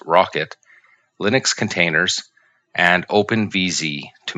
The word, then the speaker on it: rkt: are alternatives such as rkt pronounced rocket linux containers and openvz